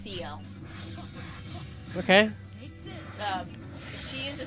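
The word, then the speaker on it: Ci-L: c i Dash l it's pronounced seal okay um she is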